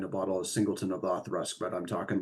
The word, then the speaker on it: Auchroisk: I forget that you're supposed to pronounce it Othrusk and pronounce it the way it looks, which it looks like it should be pronounced as Ochroisk, because it is Auchroisk, if I remember correctly.